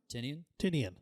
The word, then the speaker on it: Tynion: Tynion. Sorry. I'm pretty sure I can't read my own handwriting. It's Tynion the Fourth.